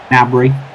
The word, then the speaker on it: Gnabry: Gnabry silent G.